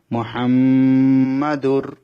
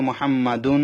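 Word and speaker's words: مُحَمَّدٌ: এখানে দুন হবে না দাল র দুই পেশ দুর মোহাম্মাদুর এখানে মোহাম্মাদুন হবে না আমি বানান করে দিই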